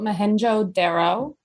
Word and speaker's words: Mohenjo-Daro: So, we're talking about Mohenjo-Daro. I looked up how to pronounce it, and that's how it says.